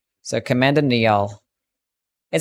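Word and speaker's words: Niall: the blastus blade it's pronounced Nile I don't care what it's pronounced I'm going to pronounce it phonetically until the game tells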